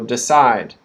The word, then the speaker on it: decide: both of these words the second syllable is stressed so decide side decide in decision that second